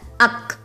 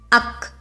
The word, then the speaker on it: ஃ: It is pronounced as Ak. One more time, Ak.